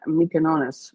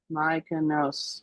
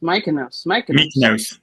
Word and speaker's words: Mykonos: So it's going to go to Athens, Santorini, and Mykonos. Or wait, I butchered that. I butchered that. How do you say that? Mykonos. Mykonos. Mykonos. Thanks, whoever that was.